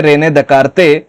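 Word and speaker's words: René Descartes: इसकी प्रोनाउंसिएशन होती है रेने दकारते।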